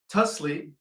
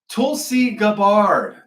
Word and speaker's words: Tulsi Gabbard: Eight out of the 100 intelligence officers were fired by Tus- Tusli Tusi. I can never pronounce her first name. Tulsi Gabbard.